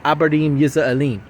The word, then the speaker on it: Abarim Yisraelim: Okay, as properly said, Abarim Yisraelim. Okay, that's how you say it properly in its original language.